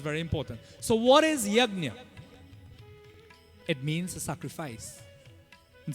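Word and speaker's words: यज्ञ: the proper word, actually, proper pronunciation of the word in Sanskrit is yagna. Can you say that? Say after me. Say yagna. We just say yagna. We say jug. Nowadays it become jog. J-U-G. Jog. No. Proper Sanskrit pronunciation. Yagna. That's how it's pronounced, right?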